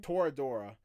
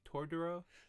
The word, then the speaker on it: Toradora: 'Cause I'm thinking I've heard some, but are you sure it's not like Tordoro? No, it's not that.